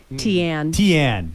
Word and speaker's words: Tiane: And we also have now in the studio, I believe it's, let me see if I'm pronouncing it correct, Tiane? Tiane Kennedy.